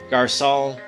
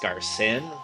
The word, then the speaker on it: Garcin: Garcon, I don't know why I keep calling him Garcon. I think his name is pronounced Garcin, but I'm just going to keep going with the French version, Garcon.